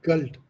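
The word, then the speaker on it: Geld: ईया, एया, एया, एया हट गल्ड।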